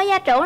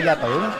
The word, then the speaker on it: gia trưởng: Bạn ơi, bạn có gia trưởng lắm không? Mình không gia trưởng rồi. Gia trưởng chứ không phải gia tưởng.